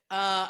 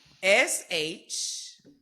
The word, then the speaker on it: shawty: shawty. I'm gonna go. Oh fuck! I hope I don't get this wrong. SHAWDY.